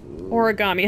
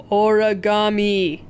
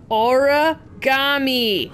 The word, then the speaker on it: origami: tomato but come on origami how hard is that to say origami say it with me bun holes auragami and i know it's spelled origami maybe uh whatever it just